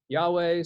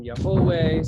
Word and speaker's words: YHWH: the roman letters yhwh some have pronounced that yahweh some yahuwah some jehovah and we'll learn in exodus